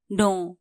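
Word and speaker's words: know: teach जानू थहा पाउनु नो के एन O double you नो नो यहां के साइलेंट हु्छ के एन ओ डबल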